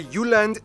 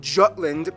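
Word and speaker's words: Jylland: denmark is made of the uland not jutland peninsula that connects to germany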